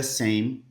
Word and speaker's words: same: a pronúncia, in the same soil. Soil, tá? Same soil. Olha a pronúncia do same. Palavras que terminam com um E só, geralmente o som desse E não existe.